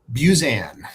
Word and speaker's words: Buzan: And we are joined here today with the one and only Buzzan. Busan. How do you say your last name? Buzzanne.